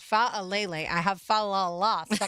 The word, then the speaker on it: Faalele: Well, the Jaguars did make it official when it comes to acquiring offensive lineman Daniel Faal. No, Fa Alle. That's how it's pronounced. Fa Alle.